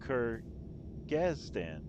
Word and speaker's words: Kyrgyzstan: Julie says it's pronounced Kyrgyzstan.